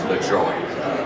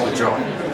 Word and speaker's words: Lajoie: Now, the mayor was rather pleased that it was LaJoie, because that's the way he actually pronounced it, and his family.